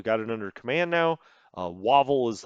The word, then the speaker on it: Wavell: Wavell is like, let's go, or Wavel. I'm sorry, it's probably Wavel. That's how I would pronounce it if I was Archibald myself. I would not say Wavell.